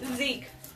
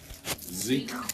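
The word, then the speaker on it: Siech: Zeke. Zeke. Ooh, it's live. Zeke. Hi, guys. But it's spelled S-I-E-C-H.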